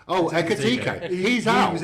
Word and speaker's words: Ekitike: Eteke. Oh, Ekitike.